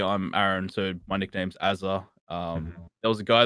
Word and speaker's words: Azr: Chad's obviously voiced in the past like he prefers if people call me Azza. Like it's pronounced Azza, and this it's obviously a nickname for Aaron. Hmm. So, but when you hear AZR or Azure or I don't know, it's like Yeah.